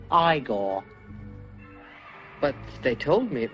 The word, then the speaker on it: Igor: depending on how you pronounce it now it's pronounced igor but they told me it was eagle well they were wrong then weren't they and